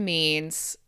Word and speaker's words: mien: So this okay so this word means someone's oh sorry ignore my test. So it's pronounced like mean.